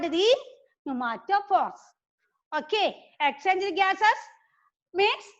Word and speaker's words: pneumatophores: So these roots are called the pneumatophores. Okay, pneumatophores. Well, P is silent.